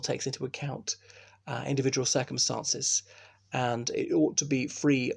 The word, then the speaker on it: v: Incidentally, you would read MV Home Office, but the V is pronounced and in the Commonwealth.